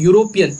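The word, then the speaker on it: European: क्योंकि उसका जो प्रोनाउंसिएशन होता है वो यूरोपियन होता है। यूरोपियन को आप यू से पढ़ेंगे, यूरोपियन।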